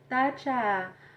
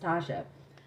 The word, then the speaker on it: Tasha: know my name like that's not even how you say my name my name is pronounced tasha so one day when